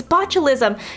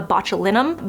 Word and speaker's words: botulinum: all know is botulism like I hear people say it's botulism it's not the correct way to say it it's a botulinum but botulism as you